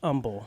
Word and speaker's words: Humble: Yeah, so we're in Humble, right by the Humble Civic Center, actually. Silent H Humble. Yeah, don't say humble. I learned that when I moved into this area. It is not humble. People will correct you.